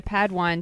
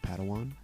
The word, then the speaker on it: padawan: master yoda assigned a pad one to this bold jedi it's pronounced padawan oh padawan excuse me hey it's